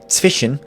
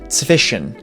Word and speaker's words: zwischen: The German word for between, zwischen, is not actually pronounced zwischen, it's pronounced zwischen. The SCH in the middle isn't actually pronounced like the English SH, and a lot of